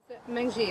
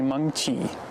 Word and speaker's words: Mengqi: Mengji, that's how you pronounce her name. It's actually Mengqi, and it has tone to it.